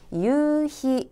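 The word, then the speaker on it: 夕日: 일몰을 의미 하며 ' 유히 ' 라고 발음 합니다 . 끝 에 독음표 ( 유성 부호 ) 를 추가 하지 않도록 주의 하세요 . ' 하이 ' 라고 발음 해야 합니다 .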